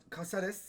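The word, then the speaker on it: Cáceres: Caccares. Nasıl okunuyor abi? Kasares.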